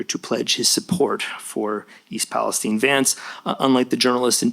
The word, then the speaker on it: East Palestine: pledge his support for East Palestine. Vance, unlike the journalists in DC and New York, knew how to pronounce the name of the place he was in. East Palestine, not East Palestine.